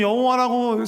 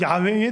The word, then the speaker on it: 야훼: 그래서 후대에 아마 보통 중세 정도로 생각하는데 여기다가 아도나이의 모음을 붙인 거예요. 여호와라는 거기에 그 자음에다가 아도나이의 모음을 붙여서 발음했더니 여호와가 된 거야. 그래서 여호와라고 사람들이 생각하고 부르고 했었는데 현대에 와서 생각하면 아니 그거 아닌데? 조금 더 연구해 보니까 이게 여호와라기보단 야훼에 더 가까운 것 같다 이 발음이.